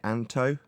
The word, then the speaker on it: Anto: Just while I'm chatting, Anto, is that how you say it, Anto? Yes, it's like Anton with at the end, yes.